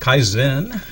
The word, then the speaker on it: Kaizen: with Anthony Hanks of Kaizen martial arts academy and fitness I think that's the way you pronounce that yeah you got it Kaizen is a two-syllable yes and I'll get